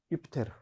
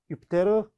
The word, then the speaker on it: 유피테르: 최고의 신이며 신들의 왕인 유피테르 유피테르 최고의 신이자 신들의 왕 이렇게 우리가 명칭을 달 수 있을 것 같습니다 자 유피테르는 이제 라틴어 식 발음이고 우리는 영어식 발음에 좀 익숙해져 있죠 주피터 아고 주피터 주피터는